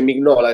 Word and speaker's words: Mignola: gli americani dicono anche Mignola, quindi non è che possiamo fare affidamento sulla pronuncia americana, no? Quindi hai ragione. Anche Mignola dice Mignola, si pronuncerà così.